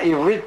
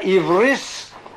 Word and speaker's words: Ivris: on the condition that the pronunciation of the Hebrew must keep to the old Ashkenazi tradition. It was not to be Talmud Torah Ivrit B'Ivrit, but Talmud Torah Ivris B'Ivris.